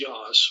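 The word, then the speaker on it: Jász: And if people want to look into the Jazz, which comes from, in Persian, it's Yaz with a Y, but the J is silent.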